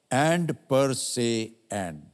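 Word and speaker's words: and per se and: अक्षर माना जाता था इसका उच्चारण था एंड पर से एंड ऐसे लिखा जाता था तब से वह बना एंड और इसे बच्चों को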